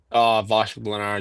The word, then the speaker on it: Vashek Blanar: What do you prefer? Vashek Blanar, just like you said, it was good.